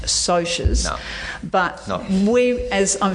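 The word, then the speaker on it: Socs: Now, Socks, that's spelled S-O-C-S, and it's short for socials. And Cohen and I both know now that it's meant to be pronounced socias.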